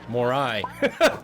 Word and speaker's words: Morai: dedicated towards one god more eye pronounced more i the god i guess i got it right the god of fire